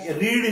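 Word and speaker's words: read: उपयोग करू तर त्यावेळेला त्याचा उच्चार जो आहे तो रीड न करता रेड करायचा.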